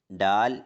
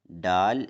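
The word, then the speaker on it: ڈال: ശബ്ദത്തിന് ഊന്നൽ നൽകാനോ ശക്തി കൊടുക്കാനോ പാടില്ല.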